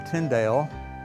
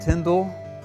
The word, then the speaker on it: Tyndale: i sometimes it's pronounced Tyndall sometimes Tyndale probably Tyndall is more correct but most of us today say Tyndale because it's just easier to say and the publishing house